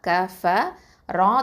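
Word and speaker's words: كفروا: அடுத்தது க ஃபத்தா க, ஃப ஃபத்தா ஃப, க ஃப, ரா தொமா வாவ் சுக்கூன் ரூ, 2 அலிஃப் நீட்டணும் கஃபரூ. அடுத்ததான் அதுக்கு அடுத்து வரக்கூடிய அந்த அலிஃப் இருக்குது பார்த்தீங்களா, அதுக்கு மேலே ஒரு ரவுண்டு போட்டிருக்கோம். அதை வந்து நம்ம உச்சரிக்கக்கூடாது.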